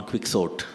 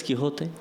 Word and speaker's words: Quixote: Are you sure it's Quixote? I said, I'm sure it's Quixote. That is how it is pronounced.